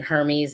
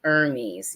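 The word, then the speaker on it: Hermès: when I was saying Hermes it's actually Hermes you don't say the H I actually went online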